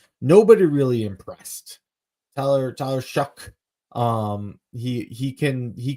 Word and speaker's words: Shough: and it's uh Tyler show from uh Louisville shuck shuck that's how you pronounce it wow okay yeah um you know